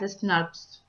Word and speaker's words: snRNP: The spliceosome is made up of a specialized RNA protein complex called small nuclear ribonucleoproteins, also known as snRNPs and sometimes pronounced as SNRPs.